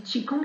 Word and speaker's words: Qigong: Donc le Qigong, on le dit Qigong, s'écrit Qigong, Q-I et Q ONG, vraiment trouve une bonne